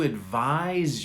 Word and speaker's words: advise: so listen to this i'm not going to advise you you never take my advice i'm not